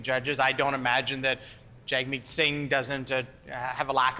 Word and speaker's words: Jagmeet: It's actually Jagmeet, like jug meat.